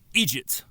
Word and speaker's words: IDGT: Only this time, it isn't the IDGT, pronounced Egypt device, but the Instaplanet device.